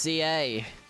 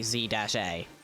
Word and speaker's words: Z-A: It's just ZA. We don't pronounce the dash in the Pokemon game. We don't say Z-A. We don't. It's Legends ZA.